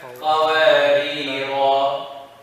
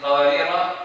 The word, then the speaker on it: قوارير: See, there is no in قوارير the alif. There is no alif whether you continue or you stop. Got that? This is the only alif that whether you stop or you continue, even though it's there, you still don't say it.